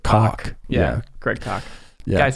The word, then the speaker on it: Koch: I know it looks like Koch, but he pronounces it Koch.